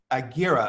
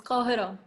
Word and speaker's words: Kohiro: She first started making comics at 18 with her webcomic Agira. Am I pronouncing that correctly? It's Kohiro. So it's like starts with a K.